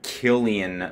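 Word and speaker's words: Cillian: so you get the point I'm I'm sorry Killian Murphy that's I keep forgetting you know he's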